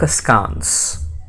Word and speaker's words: askance: a scans if you have a look at the transcription you would find in the british version we have ah in the second syllable whereas in the american one we have air in the final syllable okay it's an adverb